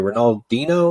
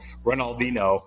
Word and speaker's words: Ronaldinho: that happened with the soccer player is that Ronald Dino is that how you say his name um